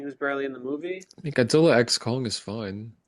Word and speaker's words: Godzilla x Kong: barely in the movie Godzilla X Kong is fine it's crossover yeah oh which according to Adam Winger I if you guys saw this the x is silent in the title I'm not making this